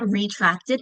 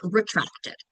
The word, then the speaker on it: retracted: Like it's not retracted, it's retracted, right?